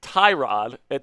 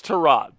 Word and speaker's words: Tyrod: So Pewter saying it's pronounced Tyrod. He says it's Tyrod. So that's what we're gonna go with. We're gonna take it right from the horse's mouth. It's Tyrod.